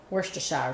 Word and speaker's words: Worcestershire: That's what my husband said that's how you're supposed to pronounce it. Worcestershire sauce.